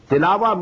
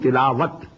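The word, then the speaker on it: تلاوة: Tilawa means to recite, which we call in Urdu tilawat. In Arabic we have to pronounce it as tilawa.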